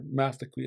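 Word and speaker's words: Máthxwi: You read Simon Fraser's journal, he talks about coming across a 1 kilometer long longhouse at Matsqui, or Mathaqui is the proper pronunciation of it.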